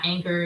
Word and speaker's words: Anker: They have one that's by Anchor.